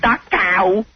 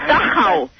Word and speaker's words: Dachau: It's not Dachau. It's Dachau.